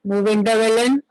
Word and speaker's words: Muvendavelan: Muvendavelan, split the word and then you can pronounce it Muvendavelan.